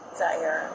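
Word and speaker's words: Ziaira: Zara.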